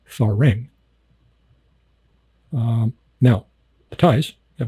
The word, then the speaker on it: farang: time it's if a r a n g farang um now the ties have a problem with